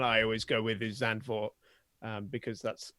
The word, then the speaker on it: Zandvoort: The one I always go with is Zandvoort, because that's how it's spelt, and it's the one I hear the most.